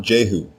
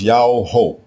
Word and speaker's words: Jehu: The king's name is not Jehu. It is Yao-Ho. Yao-Ho.